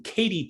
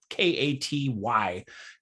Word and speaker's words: Katy: in the whole country uh number one being katy texas and i'm pronouncing that right k-a-t-y katy texas number one gaining 4 414 people